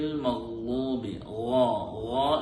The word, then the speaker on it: المغضوب: صراط الذين أنعمت عليهم غير المغضوب عليهم ولا الضالين غير المغضوب എന്നുള്ള അക്ഷരം നമ്മൾ പ്രത്യേകം ശ്രദ്ധിക്കേണ്ട അക്ഷരമാണ്.